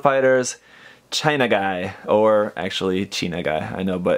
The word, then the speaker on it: Chinagguy: mean they're Japanese and they're looking at it in Japanese and his chena guy but I mean they have to know how China is spelled and like guy as in like El taco it's in like a dude it's just kind of